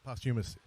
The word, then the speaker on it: posthumous: you say that work you miss Lee yeah posthumous posthumously his mother submitted their manuscript over and